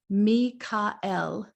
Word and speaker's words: Michael: is like god and it actually was originally pronounced me ka-el even though now we commonly pronounce it michael the origin of his